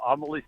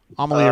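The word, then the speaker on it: Amalie: out i'm outside uh homily stadiums how you say it or amelia yeah there you go it's kind of blustery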